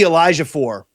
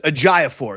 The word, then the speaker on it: Ejiofor: They got a guy, Zuby Elijahfor. Oh, yeah. Or Ejiofor, excuse me. I don't want to be a Mike and mispronounce these names.